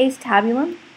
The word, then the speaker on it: acetabulum: The ace tabulum um or acetabulum, a lot of kids kind of make up their own pronunciation for that.